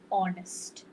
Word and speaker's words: honest: As you all know, first letter like honest. So you don't pronounce the H over there, right?